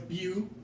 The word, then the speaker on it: butene: So it's butene. It ends in E-N-E. Butene. Butene, that's how you say it.